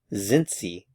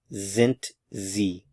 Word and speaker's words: sind sie: Sind sie? Are they? Sind sie? Notice the pronunciation of the S's and also the D.